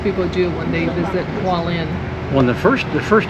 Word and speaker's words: Hualien: And then the next day, we took a 2 and 1/2 hour train from Taipei to Hua-lien. How you say it? Hua-lien?